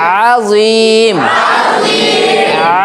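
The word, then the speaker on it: عظيم: কিন্তু আইন দিয়ে দেখেন আজিম, আজিম, আজিম। আরেকবার আজিম। আঙ্গুলটা সবাই গলাতে ঠেকান, হালকা একটু প্রেসার দিবেন। আজিম, প্রেসার দেন।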